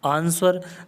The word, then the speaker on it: answer: नहीं गलत हो गया आंसर आंसर में क्या और है answers-9 प्रदेश को आर से पहले डब्लू आरा ठीक है तो यहां पर यह डब्लू क्या हो गया या साइलेंट हो गया ज्ञापन दिया आंसर आंसर